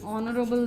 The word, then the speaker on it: honorable: guest which is wrong you should not pronounce the h it is Honorable honest